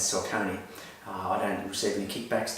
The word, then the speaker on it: Saucony: Apologies for the Americans, it's an American brand, they pronounce it Saucony. But for my viewers and for most people watching, we know it as Saucony.